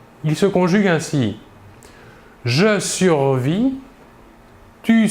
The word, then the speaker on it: survis: Le S et le T final de la terminaison ne se prononcent pas, mais s'écrivent.